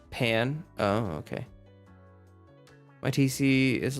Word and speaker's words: pain: By the way, Jess is pronounced Pan.